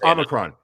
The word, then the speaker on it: Omicron: It's Omicron.